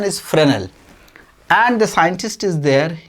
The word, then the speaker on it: Fresnel: there named freshnal fresnel spelling is freshnal but pronunciation is fresnel and the scientist is there young y-o-u-n-g young